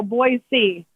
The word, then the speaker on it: Boise: no they don't say boise they get mad at uh people they said they said say like boy and then c like so boy c boy oh boy yeah yeah but i say boise like like new jersey